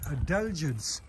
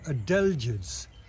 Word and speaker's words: adelgids: Again, while I'm here, I just noticed that there are adelgids on this pine.